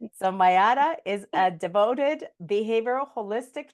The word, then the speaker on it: Mayara: And please help me as I pronounce her name. Is it Mayara? I don't think I could say it properly. Mayara. Mayara. So Mayara is a devoted behavioral holistic nutritionist and a Reiki healer.